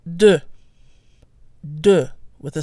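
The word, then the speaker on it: deux: follow the same pattern the final letter is silent unless followed by a vowel so 21 on its own is pronounced do do with a silent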